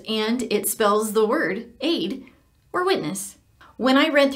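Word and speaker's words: עד: you mash them together it does not spell Ed it spells Aid it's pronounced Aid and this is the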